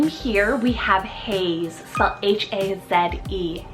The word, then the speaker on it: Haze: another H name here we have Hayes so h-a-z-e Haze now this particular name could be spelled a